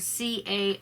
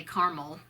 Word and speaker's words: caramel: Number 7 is, how do you pronounce the word C.A.R.A.M.E.L, and we always say caramel instead of caramel.